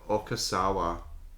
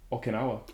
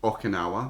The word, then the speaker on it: Okinawa: So Oh, you have Okasawa. Am I pronouncing that right? Okinawa. Okinawa.